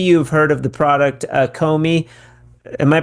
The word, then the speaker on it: Co.Me: Maybe you've heard of the product Comey. Am I pronouncing that correctly? Comey. Yeah. Usually Americans they say Comey.